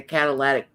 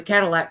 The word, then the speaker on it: catalytic: The catalytic catalytic converter. Converter, yeah. I always thought forever it was a Cadillac converter.